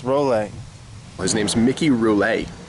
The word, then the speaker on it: Rolle: And I think, yeah, Miki, you're Miki Rolle, but it's pronounced Rolle. His name's Miki Rolle. It's not Roule, it's Rolle.